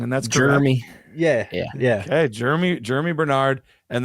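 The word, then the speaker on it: Jeremiyah: Is it It's not Jermaine. It's Jeremy. Like how do you pronounce it? Jeremy. Like it's like Jeremy, except they spelt it unfortunately.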